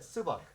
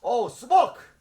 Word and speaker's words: Subak: I said, Subak. Oh, Subok! That's the name of the style. I was saying it wrong.